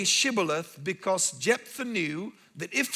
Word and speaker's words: shibboleth: to them okay then say Shibboleth and they said similar and couldn't say it and on the basis